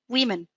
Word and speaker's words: women: you see that one we will be pronounced like an e women okay yeah good thank